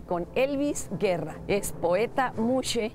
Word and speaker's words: muxe: Entremos a cómo se debería de pronunciar. Bueno, la palabra tiene un origen zapoteco, que es muxe.